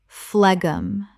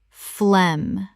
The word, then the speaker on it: phlegm: Common mispronunciation, phlegum. Correct pronunciation, phlegm. The g h is completely silent. This is just one syllable.